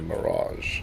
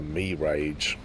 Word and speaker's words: Mirage: a mirage strangely enough nobody has ever pronounced that as a me rage I would at least think there would be somebody in the world that thinks that it's pronounced as me rage like I want the me rage 4,000 I think I would